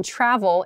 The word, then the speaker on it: travel: the vowel sound travel uh in travel it's a very tall travel and then it's followed by a v sound the Trav so your teeth are touching your lip uh to make an